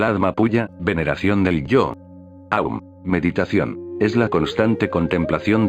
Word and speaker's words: Aum: Cuando pronunciamos Aum, AUM, son 3 palabras. Pero pronuncia Aum, largo, y al final la M resuena.